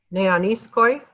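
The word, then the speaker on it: νεανίσκοι: Yes, and how would you pronounce it? Neaniskoi.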